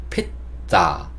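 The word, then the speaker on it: pizza: 보면요 피자를 나타내는 건데 이것도 우리가 피자라고 발음을 하지 않고 핏자 핏자 이렇게 발음을 하거든요 그러니까 앞에 p 여기만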